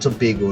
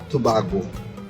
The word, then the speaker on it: Tobago: Alright, so let's look at the sister island, Tobago now. Some foreigners will call that Tobago.